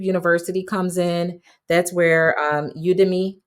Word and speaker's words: Udemy: That's where Udemy, that's how I pronounce it. Some people say Udemy.